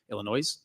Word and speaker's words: Illinois: 15 Illinois is 19 Illinois Illinois there's there's an s in there silent s man I'm still Hooked on